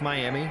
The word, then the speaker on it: Miami: Oklahoma A&M out of miam Oklahoma spelled like Miami pronounced like miam the golden Norman the